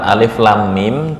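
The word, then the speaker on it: الم: Ini cara membacanya alif lam mim gini ya. Alif lam. Lam ini panjangnya enam harakat. Enam harakat. Nah, mim bertemu dengan mim ini namanya idgham. Mimi ditahan 2 sampai 3 ketukan atau harakat.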